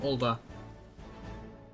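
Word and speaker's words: Ul'dah: Burn as one of us, Tinderbox Morning Dew, and together we shall chase the darkness from Ulda.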